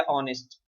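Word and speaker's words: honest: क्योंकि ऑनेस्ट में H silent है और ओ से साउंड है, तो हम सिंपली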